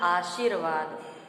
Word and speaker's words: आशीर्वाद: इसके बाद हमारा शब्द आता है आशीर्वाद, जबकि सही उच्चारण होगा आशीर्वाद, क्योंकि यहाँ पे छोटी ई और बड़ी ई की मात्रा में भेद करके दिखाया गया है।